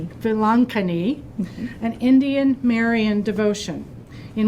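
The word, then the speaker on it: Velankanni: while her current dissertation explores devotion to the lady of I'm going to get the name wrongani Vilankani an Indian Marian devotion in Mauritius as a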